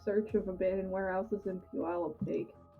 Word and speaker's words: Puyallup: Puyallup or what? How am I supposed to pronounce that shit? Well, Puyallup. Puyallup. Puyallup. Pew. Say like pew, like pu, like pew. Pew. Like church pew.